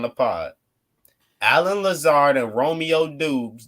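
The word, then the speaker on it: Doubs: pod alan lazarda romeo dubs dubs whatever however dobbs yeah yeah he said he that's how he said to pronounce it earlier this week okay romeo dobbs and alan lazar i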